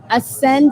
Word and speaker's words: Aysnd: Ascend is spelled A Y. Ascend. Did I say? A Y S N D. No, you said it perfectly.